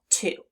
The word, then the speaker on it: to: The first sound, t. The next sound, oo. Together, two. Let's do it again. T, oo, two.